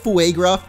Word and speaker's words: Fugruff: But I was also thinking about Fugruff, which is more like Fuegruff, because Fuego.